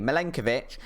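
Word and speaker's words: Milenković: this time in defense is Nicola Minka milenkovic I'll say his name properly milenkovic who is a center-back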